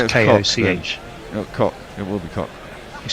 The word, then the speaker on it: Koch: I don't know how Donovan Koch pronounces his name either. He might Is it pronounce CH Koch. at the end? Yeah, it's Koch. Cock.